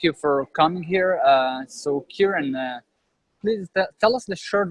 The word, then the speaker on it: Kiaran: So please welcome Kiaran. Thank you very much, Eden. Did I Pleasure pronounce it to be right? here. Lucky your episode name. 126. Yeah, pretty close. Kiaran.